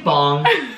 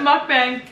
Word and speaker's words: mukbang: Are you saying bong? What is a bong? I'm pretty sure that mukbang. Mukbang? No, but look, I'll show you. It's pronounced. Look it, ready? Mukbang. See? I was right.